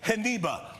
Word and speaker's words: Geneba: Where can folks get the heniba? We'll give it the Spanish pronunciation.